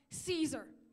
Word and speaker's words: Caesar: with are funny accents it's pronounced Caesar like the salad and yeah I'm going